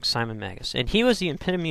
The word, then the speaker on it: Simon Magus: And there was a gentleman by the name of Simeon Magus. Probably pronounced that wrong. Simon Magus.